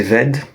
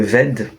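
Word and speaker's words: wed: Il y a la seule exception, c'est le ved qui s'écrit W-E-D, et pas W-E accent grave D, mais il se prononce quand même ved.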